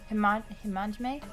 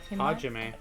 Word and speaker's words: Hajime: Himajime? How do you say it again? Hajime.